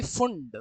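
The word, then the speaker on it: Pfund: फिर यह हो गई फुंड। फंड की स्पेलिंग होती है पी एफ यू एन डी।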